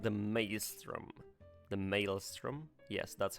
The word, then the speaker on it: Maelstrom: The Maelstrom?